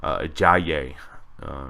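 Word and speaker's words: Ajayi: pic especially in draftkings I yay is how it's pronounced Jonathan stores probably be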